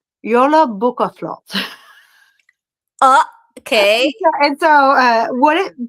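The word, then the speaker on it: Jólabókaflóð: It's pronounced Yola Bukaflot.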